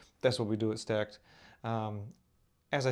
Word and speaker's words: Stack3d: I say Stack, that's how it's pronounced.